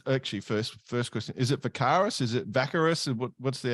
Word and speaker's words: Vakaros: So We say Vakaros. We did, about 5 minutes of Googling to try to figure out if that was really the right way to say it or not.